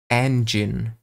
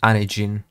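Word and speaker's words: Anjean: to pronounce her name her name is anen not Anin it's engine it's supposed to be all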